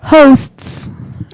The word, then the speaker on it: hosts: But whenever you say this word, you have to make sure to enunciate the ST at the end. Otherwise, it sounds like something completely different. So, hosts.